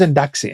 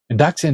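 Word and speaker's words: εντάξει: Uh she didn't speak any Greek and she was wondering why the people always talk about taxis. So, they weren't talking about taxis, they were saying endaxi.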